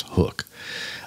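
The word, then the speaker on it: HUK: everybody's wearing one uh hook spelled h u k okay but pronounced hook I'm I'm sure those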